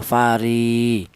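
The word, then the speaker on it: فَرِي: Jadi ri dibaca mad thobi'i alasannya ada ya mati didahului huruf yang berharakat kasrah. Jadi ee fungsinya ya ini sebagai mad thai yaitu berfungsi sebagai memanjangkan bacaan ya. fari panjangnya yaitu satu alif sama dengan dua harakat sama dengan atau dua dua ketukan fari seperti itu.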